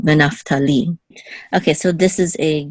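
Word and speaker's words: נַפְתָּלִי: So the accent is on Naphtali, the last syllable, Naphtali.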